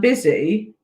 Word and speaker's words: busy: So, Stephen has done busy with a Z, but annoyingly, busy is with an S. Okay, so it's a Z sound, busy, but we say S, that we spell S, sorry.